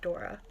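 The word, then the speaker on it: Daura: I'm pretty sure, like, pretty sure I'm pronouncing that one right, because it's like Laura with a D instead, so D-A-U-R-A, so Dora. Dora.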